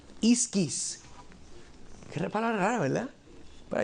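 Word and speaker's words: ἰσχύς: Una palabrita bien rara en griego, la forma que se pronuncia es iskis.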